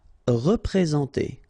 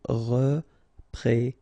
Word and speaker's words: représenter: Représenter, all right, remember that you get this N together, and then, well, it's a nasal, so it goes in your nose, and it's en, so représenter.